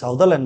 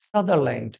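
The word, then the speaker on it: Sutherland: সঠিক উত্তর option D সাদারল্যান্ড, বা কেউ সাউদারল্যান্ড বলে কিন্তু প্রোনাউন্সিয়েশনটা কি সাদারল্যান্ড।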